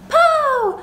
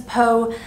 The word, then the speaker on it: Poe: family and this is poe named after edgar allan poe but someone said poo like a teletubbie and i can't unhear that situation but his name is poe i was confused about